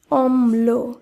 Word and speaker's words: অম্ল: সঙ্গে যুক্ত রয়েছে তাই এখানে ম এর উচ্চারণ দুইবার করতে হবে তাই শব্দটি শুদ্ধ উচ্চারণ হবে অম্ল একইভাবে বিশ্লেষণ শব্দটি শুদ্ধ